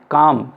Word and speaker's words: calm: आप देख रहे हैं काम, CALM, इसमें L साइलेंट है।